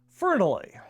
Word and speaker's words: Fernley: Fernley is a good Welsh name, and it's pronounced just like it's spelled, F-E-R-E-N-E-L-E-Y. Fernley.